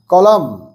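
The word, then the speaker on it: column: কলাম স্পেলিংটা দেখে নাও সি ও এল ইউ এম এন কলাম এন এর উচ্চারণ হয় না ম্যাচ কলাম এ উইথ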